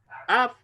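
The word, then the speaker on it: אב: Av es, ahí tenemos una kamatz, ¿cierto? Gadol. Estas kamatz gadol. Y esta palabra se pronuncia Av, ¿ya?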